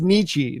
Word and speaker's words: Nietzsche: It's pronounced Nietzsche, not Nietzsche.